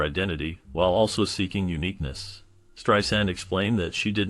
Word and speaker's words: Streisand: Streisand also clarified the pronunciation of her surname, stating that it should be pronounced with an S sound like sand on the beach, rather than the commonly used Z sound.